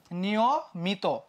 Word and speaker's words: নিয়মিত: বাকি আছে সেটা কি নিয়মিত একটা বাকি আছে ভাইয়া তাই না নিয়মিত দেখো নিয়মিত নিয়মিত উচ্চারণটা কেমন হয় জানো নিয়মিত উচ্চারণ হয় হচ্ছে এই